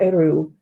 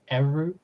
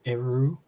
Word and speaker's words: Eru: I'm pretty sure you don't pronounce Eru as Eru, but who knows? It's Eru Iluvatar. Yeah, but I think the Quenya has the stress on the first syllable for 2-syllable words.